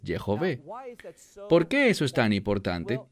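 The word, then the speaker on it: יהוה: nombre sagrado de dios que apropiadamente se pronunciaría como de jove o lo que erradamente la gente que no habla hebreo pronuncia yagüe no es yagüe es de jove porque eso es tan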